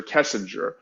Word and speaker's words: Kessinger: her name is Nicole Kissinger not Kissinger kessinger and I can actually